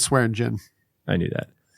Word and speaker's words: Swearingen: know when Swearingen is, do you pronounce the G? Is it Swearingen or Swearingen? It's Swearingen.